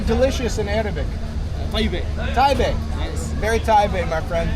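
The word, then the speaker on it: طيب: Taibe.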